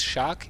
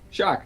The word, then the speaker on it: Sjaak: player it is shock you actually pronounce it as shock in Dutch shock yep it's just shark